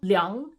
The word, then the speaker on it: Liang: These are not pronounced ang, but like Yang, Zhang, Kuang, Liang, Huang, Fang, Wang. Not Wang, Wang.